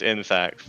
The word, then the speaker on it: Insaccs: Like, how do you pronounce what kind of... I think it's just Insaccs.